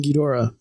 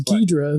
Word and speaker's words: Ghidorah: mean proper is king ghidorah but when the movie came out over here in the 60s they dropped the o so it was ghidra the three-headed monster yeah